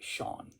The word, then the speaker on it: Shawn: Shawn, one syllable.